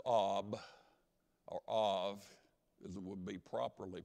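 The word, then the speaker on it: אב: Abba is an Aramaic word. If you took the first two letters ab, or av, as it would be properly pronounced, that's an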